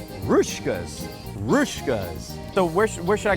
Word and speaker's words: Hruska's: check pronunciation for you evidently the H on the front is silent and this little Boomerang thing over the S makes a sh sound rkas rouskas so where where should